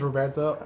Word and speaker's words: Roberto: welcome my name is Roberto that's a silent h on the first part of my name it's better if you try to roll one of vs too Roberto it works either way but uh I am